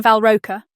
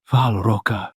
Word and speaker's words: Val Roka: "We are in Valroa, if I pronounce it correctly." "Val Roka," he repeated in a much cleaner Malakei tongue.